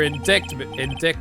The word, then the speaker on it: indictment: Wright, if you cannot prove who the owner of that cell phone is, your indictment, is it pronounced indictment?